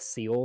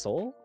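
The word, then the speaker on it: Seoul: that is a problem oh yeah with with seal right next to it see did you say seal Soul it's called It's pronounced it's pronounced Soul yeah not not not like Navy SEAL all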